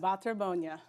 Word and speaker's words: Baterbonia: name I'm not even going to try to pronounce tell everyone at home what your last name is B Bonia B Bonia you got that see I could